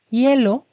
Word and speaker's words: hielo: pronunciar agüita cigüeña pingüino la letra h en español es muda excepto por palabras que hemos tomado de otros idiomas en esta ocasión veamos estos tres ejemplos Ada hielo Hugo Hugo Inicia con